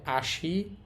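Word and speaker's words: 足: এটার উচ্চারণ হবে আসি, তারিরু এবং সকু।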